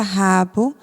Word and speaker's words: rabo: aqui na escrita que a palavra rabo termina com o mas na pronúncia não parece que ela terminou com a letra u né Igual tatoo bom